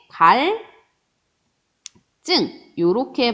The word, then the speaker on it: 갈증: 리을 뒤에 지읒이 오기 때문에 갈증 요렇게 발음을 해줍니다.